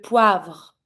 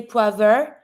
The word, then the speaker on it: poivre: VR, careful, don't say poivre. Poivre. You always connect all of the consonants together. Poivre. And you don't pronounce the E. It's mute, no accent on it, so you stop at the R.